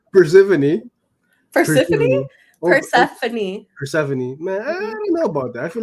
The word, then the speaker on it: Persephone: the name of uh persephone persephone persephone is that is that legit that's the pronunciation that's legit yeah okay i don't know